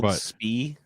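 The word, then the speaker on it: Spie: ChapStick is it all speed yeah you put it uh yes it is spelled s-p-i-e -spee I think this is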